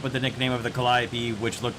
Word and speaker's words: Calliope: test drive which side note by the way Calliope is the correct pronunciation of this word in English and background